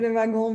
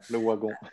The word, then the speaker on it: Le Wagon: It's a French company, so you say Lavagun, but here I learned that you're supposed to say Le Wagon. So Le Wagon.